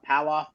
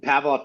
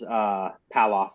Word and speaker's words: Palloff: You could move if you wanted to, but Pavlov press is Palloff, I think it's pronounced.